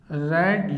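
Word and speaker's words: read: यू रेड your, क्योंकि रीड का third form देखने में तो यही है लेकिन प्रोनाउंसिएशन में रेड पढ़ेंगे।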